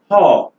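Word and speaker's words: whore: This word is pronounced haw, haw, haw.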